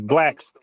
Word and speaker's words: Blax: My YouTube channel is Blacks, but it's spelled with an X, like Malcolm X. So it's Blacks. Yeah, it's Blacks, BLAX.